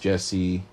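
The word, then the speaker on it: Jessea: you pronounce your name that's the first time i've ever seen a name be pronounced jesse with j-e-s-e-a it's pretty cool but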